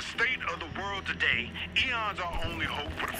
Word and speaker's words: Aeon: It's pronounced Eon. Eon for eagle.